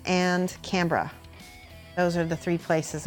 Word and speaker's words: Canberra: you say Brisbane not Brisbane Brisbane Canberra not Canberra Canberra a dingo H up baby no Mike he's